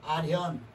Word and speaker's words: 알현: 이렇게 읽지만은 이 알자, 베일 알자로 쓸 때는 알견이라고 읽지 않고 나타날 현으로 읽어요. 알현.